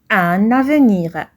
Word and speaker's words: un avenir: avenir plus prometteur Nardo le groupe de mots un avenir c'est un groupe nominal donc la liaison est obligatoire on prononce un avenir question quels sont les